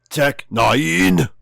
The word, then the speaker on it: Tech N9ne: I think you're supposed to say it as Tech 9.